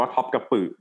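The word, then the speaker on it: Topkapı: พิพิธภัณฑ์ พระ ราชวัง Top กับ อือ อ่าน ว่า คบ กับ ปรึก นะ ที่ มา it sun woo ประเทศ ตุรกี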